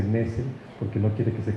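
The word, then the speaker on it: Nestle: Mario Nessel nos dice que no se dice Nestlé, que se dice Nessel, porque no quiere que se confunda, ¿no?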